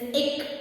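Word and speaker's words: ਇੱਕ: So let's now learn how to pronounce these numbers. The number 1 is ik as in break, nig or sick.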